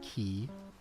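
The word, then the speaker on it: ci: And then dog is key. C I bar. So, oh yeah, I guess I didn't really spell it out.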